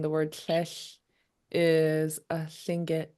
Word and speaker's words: Tlingit: The the L in Tlingit is unvoiced, so you still breathe out a sound.